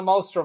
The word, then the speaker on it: Mostrom: I have Donna Mostrom on.